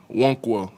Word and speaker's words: Nwankwo: start with a uh tutorial on how to pronounce your name it's wono the in the first in and my last